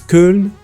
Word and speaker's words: Köln: It's located near, well, in French we call it Cologne, and in German it's Köln.